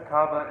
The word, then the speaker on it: Kaaba: One afternoon when I was rising in prayer, having just bowed towards the sacred Kaaba, Is that pronounced right? Yeah, that's the Kaaba.